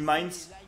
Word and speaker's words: Mainz: Allez, c'est parti pour ce match face à Mainz, c'est Mainz qu'on dit, je crois, hein. Je dis Mayence, mais je le prononce à la française, je crois que ça se dit Mainz, voilà, au Red Bull Arena de Leipzig, évidemment.